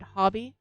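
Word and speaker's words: Hobbii: very little complaints about acrylic I find that hobby or Hobby depending on how you want to pronounce it um h-o-b-b-i-i is a great company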